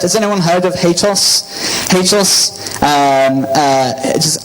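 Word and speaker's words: HATEOAS: HATOS, does anyone pronounce it differently? I hear some people say HATOAS, which is potentially rude.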